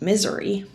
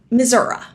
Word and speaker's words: Missouri: arrived I discovered that it's not pronounced misery it's actually Missoura but that didn't help